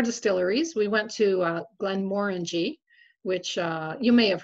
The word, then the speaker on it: Glenmorangie: we went to uh glenmorangie which uh you may have heard of they they're a huge um distiller and they they distribute widely um and it is pronounced glenmorangy like orange because they said it's